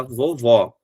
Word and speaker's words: vovó: Por exemplo, que daí tem a diferença do som o mais claro que fica aqui é quando eu falo do vovô e quando eu falo da vovó. Vovô, chapeuzinho. Vovó, som aberto.